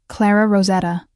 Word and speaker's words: Rosetta: "I'm Clara Rosetta." She pronounced it with a slight roll of the R that spoke of decades in America, but origins elsewhere.